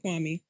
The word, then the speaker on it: Kwame: how they become remembered why may they keep calling him kwan may when his name is kwame um and he was